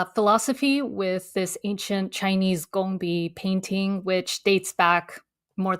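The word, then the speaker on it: 工笔: It's pronounced gongbi.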